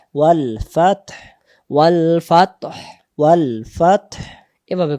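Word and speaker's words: والفتح: যদি কেউ আমরা বলি ওয়াল ফাত, জি। হায়ের উচ্চারণ আসে না, হায়ের জি। উচ্চারণ না ভেসে আসবে ওয়াল ফাতহ।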